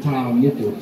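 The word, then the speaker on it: tā moko: Yesterday I talked a bit about that word TaaMoko, T-A. T-A with a macron, or you can spell it T-A-A. It's a long A sound, TaaMoko.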